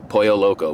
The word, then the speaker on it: Pollo Loco: quite a bit since then it's called El Pollo Loco that's how it's pronounced though poyo Loco which means the crazy chicken and these guys